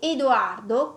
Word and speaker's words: Edoardo: et ici j'ai également donné deux exemples avec Emma Emma avec le E ouvert et Edoardo avec le E fermé entendre Emma sentir comment